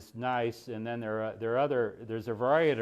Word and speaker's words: gneiss: I've heard that the Germans pronounce the G, and I'm not sure about that. Gneiss? I don't know. But anyway, we in English, I guess we say nice.